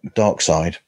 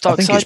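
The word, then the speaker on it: Darkseid: it dark seed dark dark side is it called or I think it's dark side the guy the guy who I think it's pronounced dark side but it's spelled dark seed or d r k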